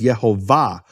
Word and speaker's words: Yehovah: beginning and more importantly where's the emphasis of the of the word the emphasis of the word is in the final syllable it's marked that way in all Hebrew manuscripts with vowels no question about about it all the Hebrew manuscripts with vowels mark it as yehovah and what happens because